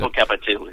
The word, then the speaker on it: Popocatépetl: I can't pronounce it. Popocatépetl.